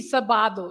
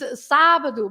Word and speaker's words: sábado: Lots of people say that because they don't put the accent, and if there is no accent, it would be sábado. Yes, it Yeah. would be. Sábado. Okay. But very it's sábado because you have the accent, Sábado.